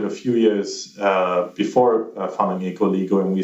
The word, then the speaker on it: Ecoligo: You are the founder of Ecoligo. Do I pronounce it correctly?